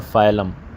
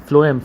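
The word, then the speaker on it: phloem: दो बड़ी रूट्स हैं ना, XYLEM, जाइलम और फाइलम, फ्लोएम सॉरी गलत प्रोनाउंस कर रहा हूँ मैं, फ्लोएम FLOEM इस तरह करके।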